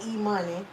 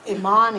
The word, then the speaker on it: Imani: Yeah, so I hate when people say E-money, because that's not it. It's not E-money. It's Imani.